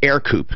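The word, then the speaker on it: Ercoupe: It was a 1946 Air Coupe. It's spelled E-R-C-O-U-P-E.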